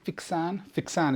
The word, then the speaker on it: Fixin: Drinking fixan is the right way to pronounce it, but fixing is the way.